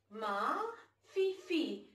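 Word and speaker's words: ma fifille: Ma fifi. F-E-E, F-E-E. Ma fifi. Fifi. F-I-F-I-L-L-E is pronounced as ma fifi.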